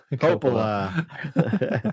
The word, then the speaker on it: Coppola: Coppola. I'm glad you knew that. Yeah. Well, since you knew how to pronounce it so well, why was he such a big hit for this movie?